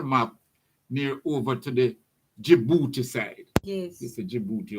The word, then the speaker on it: Djibouti: near over to the Djibouti side. Yes. You see Djibouti over there. Yes. And Djibouti is spelled with a D.